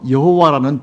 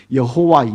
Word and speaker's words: 여호와: 그 주변에 있는 영어권 사람들이 읽는 발음으로 하면은 여호와가 나오는 거예요. 여호와, 예호와 뭐 이런 식으로 나오는 거예요.